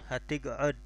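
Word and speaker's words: هتقعد: Hatig'ud bukan tig'ad, hatig'ud dengan ain. Hatig'ud.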